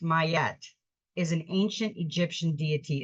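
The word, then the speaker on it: Maat: all golden and beautiful matat pronounced mayat is an ancient Egyptian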